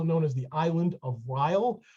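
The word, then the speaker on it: Reil: as the island of rile or as i like to say because it rhymes the isle of rile because it was first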